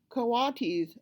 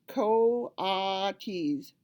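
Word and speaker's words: coatis: pigs or raccoon dogs these are kawatis Miss Mrs Brisbane said reading from the letter pronounced co-ates the kawadis looked weird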